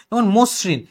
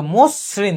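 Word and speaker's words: মসৃণ: ঋকার থাকে তার মানে মশরিন এটা তুমি কিভাবে লিখবা এটা তুমি লিখবা মসরিন তুমি কিন্তু দন্ত সাথে একবার থাম এবং এস এর মত উচ্চারণ হচ্ছে মসরিন মশরিন বলতে না তুমি বলতে কি মসরিন বিতৃত এই যে এইরকম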